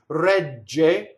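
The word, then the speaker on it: regge: Rɛgge rhymes with protɛgge, and we already went over how to do the double G.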